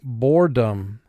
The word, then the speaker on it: boredom: Now for spelling, let's pronounce the word boredom. First syllable, bore, 3 sounds. B, O, Dom, 3 sounds. D, A, M. Boredom. All right, let's see if we have any teams or silent E's in this word. Yes, we have a silent E in the word.